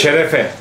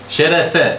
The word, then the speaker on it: Şerefe: Şerefe. Şerefe.